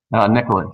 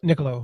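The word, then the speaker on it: Niccolò: Is that how you pronounce Machiavelli's first name? Niccolo, yeah. Niccolo, okay.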